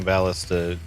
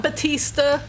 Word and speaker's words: ballista: Well, then I'll begin by having Ballista shoot Ballista. Ballista? Ballista? I don't actually know how to pronounce that word. Ballista. Ballista. No, it's not Batista. Ballista.